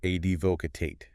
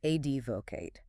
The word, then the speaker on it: advocate: Advocate. A d vo c a t. Advocate. Three syllables. Stress on the first this time. Advocate.